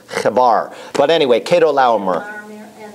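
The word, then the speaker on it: Chebar: in daniel the river kebbar c-h-e-b-a-r it's not chibar it's kabar but anyway cato laumer and the king okay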